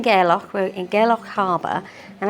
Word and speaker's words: Gairloch: much enjoy this is how do you say the name of the place is it gck gerock gerock gerock so we're in gerock we're in gerock Harbor